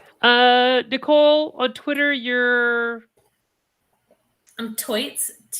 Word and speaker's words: Toits: I'm Toits. Like a tiger. I never know how to pronounce it, so there you go. It's like Toidle. It's turtle, but Toidle.